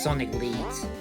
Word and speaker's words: Sonic 1337: I think it's mostly pronounced as Sonic Lead, Yeah, Sonic Lead. as in Lead Hackers.